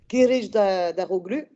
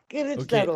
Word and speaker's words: Kılıçdaroğlu: avoir un mal pour une difficulté à le prononcer, Kılıçdaroğlu. Kılıçdaroğlu, on dit ça? Non. Vas-y, Emre, fais la... Non, mais j'avoue, c'est difficile à prononcer. Kılıçdaroğlu. Kılıçdaroğlu.